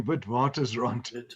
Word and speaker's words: Witwatersrand: Did I pronounce it right, Barry? Witwatersrand. It's actually Witwatersrand.